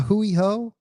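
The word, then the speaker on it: A hui hou: A hoouiho. I think that's what they say, man. Aloha. And a hooiho. I remember a hooui ho because I always remember it rhymes with like a dirty hoe, right?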